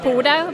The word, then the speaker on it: Pode: what is is it poder pod it's pote well it's a Norwegian word so it's actually pronounced puto but we figure that